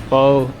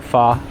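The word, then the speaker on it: pho: of Bon me uh fo or fa is the correct pronunciation what I'm told not a problem here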